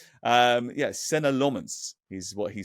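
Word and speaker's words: Senne Lammens: Well, I think I've pronounced it about 16 different ways over the course of the summer, but we're told it's Senna Lomons.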